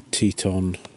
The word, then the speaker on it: Teton: I bought the now the right way to pronounce it the Teton Teton Sport zero degree Fahrenheit bag this weekend